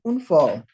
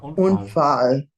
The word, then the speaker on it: Unfall: Es gab einen Unfall. Bist du verletzt? Be careful with the A here. Open your mouth wide. It's fall, not fall. Look at my lips. Fall, fall. They're much wider. Fall. Ja, Unfall.